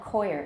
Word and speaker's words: coir: 因为有一些床垫是椰棕做的，他们就号称是很健康的一种床垫，是椰棕，它就是成熟的椰子外面的那个毛。英文叫 coir, it's a coir bed or coir cushion.